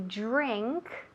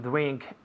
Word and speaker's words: drink: Esa DR suena como drink. J. Cuando dices January, J, el mismo sonido. Es un poco complicado, pero con práctica se puede, ¿ok?